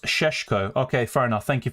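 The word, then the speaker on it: Šeško: Um, Cesco is pronounced Seshko.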